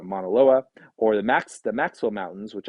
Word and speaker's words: Mauna Loa: And you can see its dramatic comparison, Olympus Mons compared to Mount Everest, or even Mauna Loa, mispronounced it there, but Mauna Loa, or the Maxwell Mountains, which I believe are on Venus.